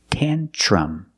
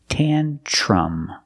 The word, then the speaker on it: tantrum: word is tantrum pronunciation use the short a sound tantrum the TR makes it sound like chicken tench plus the r Church tantrum the last vowel is a short sound like cup and up um um